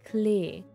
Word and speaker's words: Klee: means clover in german if you were to pronounce her name german it would be clay and since her character